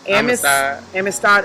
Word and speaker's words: Amistad: So I go and how do I pronounce the next song? The next song, Amistad.